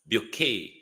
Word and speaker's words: Bucket: You know in Britain it I in the natural world it would pronounce bucket but in the British upper echelons it pron it's pronounced bouet.